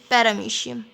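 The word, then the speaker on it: Paramecium: तो एमोइबा एंड पैरामीशियम, इसको काफ़ी बार पैरामोशियम भी पढ़ा जाता है, लेकिन कुछ भी प्रोनाउंसिएशन कर सकते हैं, पैरामीशियम हम अभी रखते हैं।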